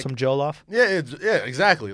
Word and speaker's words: jollof: off, it's jollof.